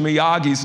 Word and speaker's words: Miyagi: a tournament and somebody was calling out Mr miyagi's name and they and they didn't pronounce it right and by this time Daniel